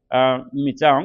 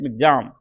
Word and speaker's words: Michaung: जो हम ये चक्रवात का नाम है, जो भीषण चक्रवात है अभी सीवर साइक्लोन स्टॉर्म, नाम है मिचांग, बट प्रोनाउंसिएशन है मिग्जाम।